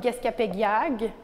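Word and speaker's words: Gesgapegiag: Un peu comme Gescapegiag, on ne prononce pas le G à la fin, c'est Gescapegia.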